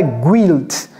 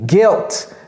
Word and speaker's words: guilt: Ça s'écrit G-U-I, mais ne dites pas guilt. Ok? C'est guilt. Comme s'il n'y avait pas de U là-bas.